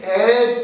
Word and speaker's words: heir: He is heir to her. He is an heir to her. H-E-I-R-A. Heir. We don't pronounce heir but heir.